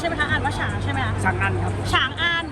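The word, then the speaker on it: 长安: ว่า ฉาง ใช่ มั้ย คะ ฉัง อัน ครับ ฉาง อัน ก็ คือ เป็น ค่าย ของ สัญชาติ อะไร คะ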